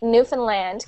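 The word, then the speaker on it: Newfoundland: time zones I'm in newfinland Canada so in Newland it's spelled new found land um we are a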